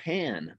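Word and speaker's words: panne: what we call a pan present and a pan is spelled p-a-n-n-e and the pan is basically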